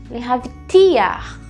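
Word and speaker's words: להבטיח: letras é o verbo lehavtiar. Lehavtiar, né? O ti é a sílaba mais forte.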